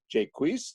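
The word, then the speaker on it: Jaques: act 2 scene 7 either Jake's or Jake wheeze depending on how you say it there are some other ways as well and it's traditionally known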